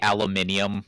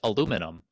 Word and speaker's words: aluminium: And you say aluminium, which No, that's just wrong. BUT THAT'S WHERE THAT'S WHERE THE EYES ARE. There's alo mint. We don't we don't have an I there. We we we've made it more efficient. It's just aluminum. No eye. One one fewer syllable.